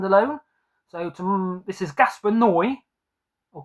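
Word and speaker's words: Gaspar Noé: So to this is Gasper Noi or Gasper. No. Yeah, sorry. I think Ash from Hoporn Horror said it's pronounced Gasper. No. I used to say Gasper Noey, Gaspan Noi, I don't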